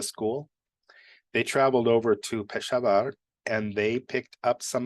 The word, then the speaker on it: Peshawar: Now, there was an explosion in, I think they pronounce it Peshawar. I always thought it was Peshawar.